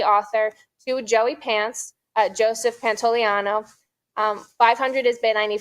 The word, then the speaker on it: Pantoliano: Pantoliano. I know how to say it. Pantoliano.